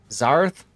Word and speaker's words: Zath: How the hell do you mispronounce Zath? I get it all the time. Zath? Zarth?